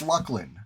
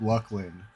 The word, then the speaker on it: Luclin: I say it's Lucklin, and I'm correct in that. You know, I'm not It's not even up for debate. That's just straight up. Straight up Luckland, confirmed by developers, you know, it's just so No, it's not.